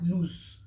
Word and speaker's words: loose: with in s e but this one is pronounced as loose okay white suspense as loose now the difference